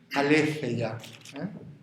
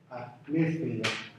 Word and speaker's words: aletheia: Para Platón, la palabra griega central, como se dice, ¿verdad?, es aletheia. Aletheia. Esto como se pronuncia como una Z, Aletheia.